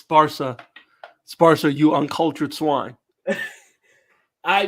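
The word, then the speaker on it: Barça: a that's a freaking it's an accent by the way it's barsa sparsha you uncultured swine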